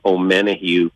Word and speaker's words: Omenihu: Charles, I'm going to mispronounce his last name, Omenihu.